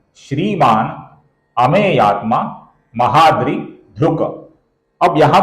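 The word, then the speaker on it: श्रीमान्: यहां पर श्रीमान है, न का हमें अपूर्ण उच्चारण करना है।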